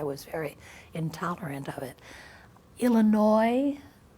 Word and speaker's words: Illinois: Illinois, I used to pronounce the S on Illinois, and my older brother corrected me, and after that, if some kid in school said Illinois, I'd go, ah!